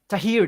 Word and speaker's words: Thaheer: introduce to our friend Tahir did I pronounce correct your names are here that's 100 perfect thank you that is